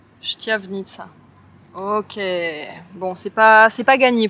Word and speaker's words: Štiavnica: Nous voilà arrivés à Banska Štiavnica, que j'ai bien prononcé cette fois-ci. Štiavnica. Štiavnica.